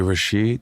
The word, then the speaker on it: Rashid: So real Rashid is really Rashid? That's his actual name? I emphasize the first syllable, Rashid.